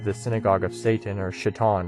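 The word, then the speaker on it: שָׂטָן: synagogue of Satan or shitan right as it's pronounced in Hebrew um uh the subject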